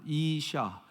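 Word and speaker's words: אשה: 자, 시옷에 아 모음을 붙였어요. 어떤 발음이에요? 이샤 발음이 나죠. 이샤. 그 마지막에 헤이라고 이렇게 사다리처럼 생긴 한 가지가 뭐냐면 그것은 흐 발음이 나는 거예요. 그러니까 이샤 이렇게 되는 거죠.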